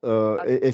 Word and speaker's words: ج: Alors, il faut bien rebondir, ça fait Adje, Adje, Adj. Ok. Adje, voilà. Ok. Alors, Adj. et c'est plus proche du D et du J que du J tout seul.